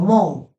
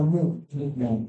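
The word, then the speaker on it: μου: Noten que ahí, en ese diptongo que tenemos la omicron y la ypsilon, la O pasa desapercibida. La O pasa no lo pronunciamos O. Y de hecho, no pronunciamos la ypsilon como U. Ahí pronunciamos como valor tipo U normal. Por eso yo no digo mu, tampoco digo mo, digo mu.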